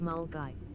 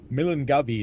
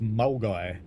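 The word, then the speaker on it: Milngavie: Dave the driver says pronounced mulgy. Really? Milan Gabby is pronounced Mulgai.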